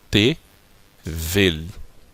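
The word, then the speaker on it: תבל: Então aqui pronunciando consoante, vogal e consoante. Então eu tenho T-vel. E tevel significa mundo.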